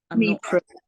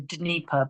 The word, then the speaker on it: Dnieper: Dnieper. The Anglicized version is the Dnieper, but I don't know, I've always called it the Dnieper or river.